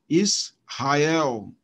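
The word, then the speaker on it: ישראל: é um versículo mas Observe então que é aqui a sílaba tônica está no céu é o na última sílaba Israel Israel é tão Ah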